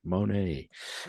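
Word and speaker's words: Moné: know let's dig deeper Mercedes Monet and I have to say it like that because that's the only way to say it money she uh she made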